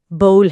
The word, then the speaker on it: bowl: اگلا لفظ ہے بول۔ اس کا تلفظ بھی بول ہے، بو کی طرح۔ جی، باؤل، یہ بھی